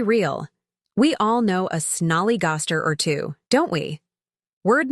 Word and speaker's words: snollygoster: to grab a snack word for sniger pronunciation snol easer meaning a smart but unprincipled person often used for politicians let's be real we all know a snollygoster or two don't we